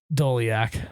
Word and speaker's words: Doleac: Doleac. Okay. It's spelled just like it sounds too. It is actually. Doleac. No K at the end though.